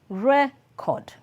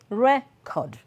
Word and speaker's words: record: i said the noun the noun is always stressed on the first syllable while the verb is stressed on the second syllable so it is the shift in stress that defines the meaning of these words number one record record